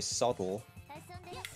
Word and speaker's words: subtle: The English just say subtle and kind of swallow the B.